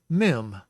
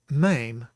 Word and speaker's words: mem: I would tend to call that mem, but it is not in fact mem, it is mame, and we'll see when we get to that letter about the spelling of it and why it is mame.